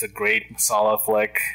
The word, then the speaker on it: masala: love that i love what how do you pronounce it again masala masala m-a-s-a-l-a yeah you might have heard of like